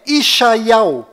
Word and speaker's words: ישעיהו: Bom, agora ficou bem claro que a verdadeira pronúncia do nome de Isaías em hebraico legítimo lá em Israel é Ishaiau.